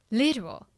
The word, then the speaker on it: literal: Literal. Listen. Literal. ဘာမှဖြစ်ရ Yes, first syllable မှာဖြစ်ရပါတော့ဟိုဒီမှာကျတော့လေ British pronunciation ကကျတော့ literal ဆိုပြီးတော့လေ T တောင်အဲ့လိုတခြားထွက်တယ် American ကကျတော့ that အတန်လေးကိုနည်းနည်းလေးပြောင်းသွားတယ်ပေါ့နော် So repeat after me.